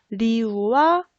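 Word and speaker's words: 流: 자, 이 리오라는 숫자는 어떤 단어의 발음과 비슷하냐면은 흐르다라는 리우와 발음이 비슷합니다.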